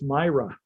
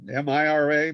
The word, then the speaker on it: Mira: anytime you want gentlemen i always thought it was myra yeah well yeah well is also myra which means you know like wonderful spectacular well the lady's name is spelled with a y when it's myra but m-i-r-a mira you know but never mind